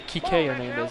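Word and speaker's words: Kiké Hernández: It's actually Kike Hernandez is how they pronounce Kike.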